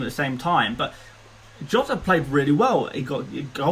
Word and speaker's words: Jota: Jota, I should say Jota because the Portuguese pronunciation is Jota.